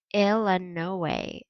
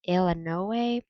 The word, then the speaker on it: Illinois: the illinois state line he pronounced illinois ill and no way exactly the way everyone in by banks kentucky pronounced it and hearing that ill and no way made me suddenly homesick